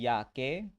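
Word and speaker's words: Jacke: তারপরে জে কে উচ্চারণ হবে ইয়ট, এটা আমরা বলবো হচ্ছে যে ইয়াকে, মানে হচ্ছে যে জ্যাকেট। কে কে উচ্চারণ হবে কা বা খা, এটাকে কি বলবো?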